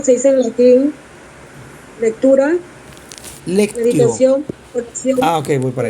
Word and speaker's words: lectio: Lectura, Lectio. meditación, oración. Ok, voy para allá. Se dice así. Déjate buscar aquí. Ajá. Lectura se dice lectio, con C. Lectio.